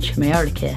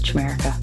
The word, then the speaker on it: Chimerica: She's written Tinderbox and Chimerica. Don't say it like that, it's Chimerica.